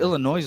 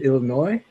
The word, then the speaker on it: Illinois: border what part of Illinois are you in no we don't live in Alaska it's just it's winter time in America so you pronounce the s in Illinois Illinois it's a habit